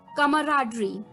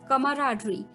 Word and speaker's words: camaraderie: तो चलिए, the eighth word for the evening is, well दोस्तों, ये थोड़ा सा प्रोनाउंसिएशन में थोड़ा सा अटपटा लग सकता है आपको, कमराडरी। कमराडरी, CAMARADERIE, कमराडरी, CAMARADERIE, कमराडरी, यानी कि सौहार्द।